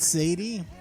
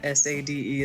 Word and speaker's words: Sade: trying to say yeah pretty sure it's not Sadie oh you're telling try and tell me that s-a-d-e is pronounced make like a tree and leap you